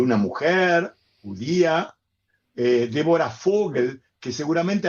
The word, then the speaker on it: Fogel: mujer judía eh Débora Fogel, que seguramente al leerlo los argentinos muchos van a decir voel, pero por favor pronuncien bien fogel que quiere decir pájaro.